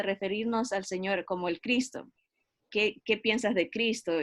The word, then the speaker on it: Cristo: eso he notado mucho que Cristo tiene dos sílabas, ¿verdad? Con más énfasis en la primera sílaba, Cristo.